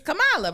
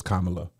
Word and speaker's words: Kamala: day I was like it's Camala right like Lisha like the meaning we put the emphasis on the second syllable I was like it